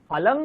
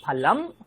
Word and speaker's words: ফলং: আহম ফলং খাদামি না, আহম ফলম খাদামি, আহম ফলম খাদামি।